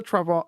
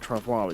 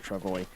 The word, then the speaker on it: travois: If we've got the Travois is how you say it. I've been saying it Travois, it's not, it's Travois.